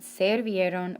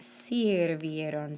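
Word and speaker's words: sirvieron: here to ellios ustedes it's not servieron but sir vieron so there's a slight change one in the spelling and then in the pronunciation okay can you try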